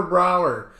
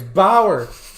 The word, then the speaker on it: Bauer: oh trevor freaking trevor brower i can't even say his name right it's bauer i cannot stand him